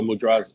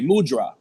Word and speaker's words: mudra: It was, incidentally, every time I saw the word, I would say mudra. And then I heard someone say mudra. And I was like, okay, like mu and draw, mudra.